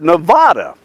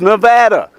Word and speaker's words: Nevada: and when I moved there I called it Nevada and everybody said no it's not Nevada it's Nevada I said that's kind of ugly sounding they